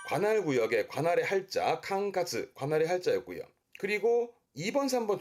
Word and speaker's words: 管轄: 발음은 캉카즈.